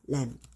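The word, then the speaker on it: lamb: 램.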